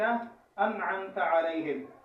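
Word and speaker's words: أنعمت عليهم: انعمت علیہم، اس کا صحیح تلفظ صراط الذین انعمت علیہم.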